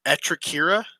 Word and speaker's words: Atraira: uh am I Butch of this pronunciation atraira no that's perfect how how big is